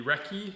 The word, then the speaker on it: recce: review on the 14-5 key mod BCM the recce I believe it's pronounced not the Reese I pronounce it the Reese but it's the